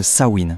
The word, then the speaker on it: Samhain: nom un peu mystérieux Samaen. Alors, Saorine et attention, ça se prononce Sain, c'est important.